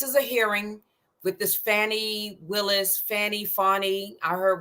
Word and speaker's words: Fani: is I don't know if it's Fanny fonnie F i' rather call her fonnie F I don't know why it's pronounced like that but everybody says fonny Willis I think I don't know why they pronounce it like that I I just call